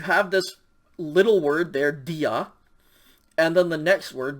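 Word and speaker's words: διά: word is delta yota alpha and so it's pronounced dia and then the second word notice it starts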